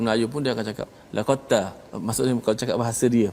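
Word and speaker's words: لَقَدْ تَابَ: Jadi maksudnya bacanya terus masuk ta. Betul. Dal tak bunyi dah. Tak bunyi. Okey. Ini penting, ya. Allah menceritakan, ya, cara bacanya tadi laqad taba, ya.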